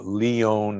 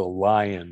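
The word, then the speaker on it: Lyon: disease study called the leone heart diet l-y-o-n from leon france most people know it as the lion heart diet because we don't pronounce it correctly so the the leon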